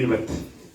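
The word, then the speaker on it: אמת: Verdad, La vérité, en hebreo, emet. ça se dit émet.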